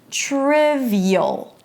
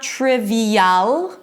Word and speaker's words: trivial: 'TRIV-y'l'. So it's not 'trivi-yal'. We don't pronounce the 'a here, it's a schwa.